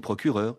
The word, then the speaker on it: procureure: est le suffixe EURE, avec un E final, qui, je le répète, n'est plus prononcé depuis le XVIIe siècle. On dit une procureure, une ingénieure, une professeure.